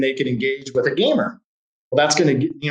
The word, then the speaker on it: GMR: foundation called the warrior gamer foundation and it's spelled warrior gmr foundation just like neutral gmr but it's obviously pronounced gamer and what the idea